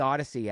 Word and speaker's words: Audacy: telling people download the Odyssey app, and then you have to spell it because it's AUDACY. It's a punny name, which is perfect for an audio-only medium. It's like, it's Odyssey, but then you have to spell it.